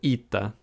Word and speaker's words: eta: you know what can you do it's called eita next is theta again feet that and this